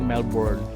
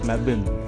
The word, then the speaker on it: Melbourne: And the way you pronounce Melbourne is not Melbourne. It's Melbin.